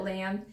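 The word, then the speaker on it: L.A.M.B.: the brand Lamb, but it's spelled like L period A period M period B period. So I think you just call it Lamb.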